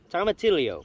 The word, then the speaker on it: tomatillo: Tomatillo, pronounced tomatillo, yo, ya, tomatillo, tomatillo.